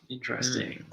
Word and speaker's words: interesting: and number six interesting interesting good opportunity to practice some very important pronunciation yeah yeah so Joey's right say we say interesting it's three syllables so interesting mmm interesting interesting yeah only three syllables never interesting no hmm